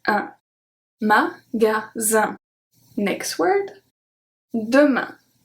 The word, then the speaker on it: demain: Demain. AIN make the sound un.